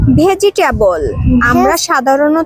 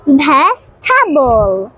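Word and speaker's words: vegetable: সবাইকে শিখিয়ে দিবে ঠিক আছে ঠিক আছে বলো ভেজিটেবল ভেজিটেবল বলি এটার সঠিক উচ্চারণ কি হবে না আমিরা জাহান হবে না না ভেজিটেবল হবে না উচ্চারণটা এটি হবে না হবে ভেস্থাবল ভেস্টাবল comfortable comfortable no নো নো এটা উচ্চারণ হবে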